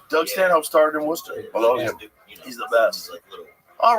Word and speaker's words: Worcester: that use it for a steak sauce oh Worcester Worster yeah yeah look weird I was 2010 I